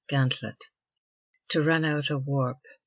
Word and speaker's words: gantlet: effect running the gantlet C Gant Lop pronounced gantlet to run out a